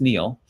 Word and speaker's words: Neil: because I wondered, like, how do you pronounce her name Neil, or is it Nellie or Neely? It's Neil.